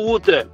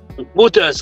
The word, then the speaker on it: Reuters: Et on quand on rendez-vous le 28 avec Reuters ou Router, on pas connaître. Pas une prononciation bon. REU TER, Reuters, ok?